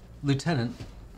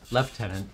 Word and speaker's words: lieutenant: mmm same thing hmm lieutenant leftenant sorry the Americanisms keep trying to pave over mm-hmm my my Commonwealth pronunciation yeah where is this